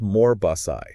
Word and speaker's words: Morbos: It's pronounced Morbosai, just so we're clear.